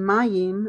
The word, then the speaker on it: מים: So you see that the yayin and mayim, I need to pronounce the yods.